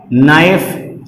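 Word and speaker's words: knife: ऐसे ही आपका होता है नाइफ। तो देखिए दो कॉन्सोनेंट फिर एक साथ आ गए तो हमने के को नहीं बोला, इसलिए बोला नाइफ।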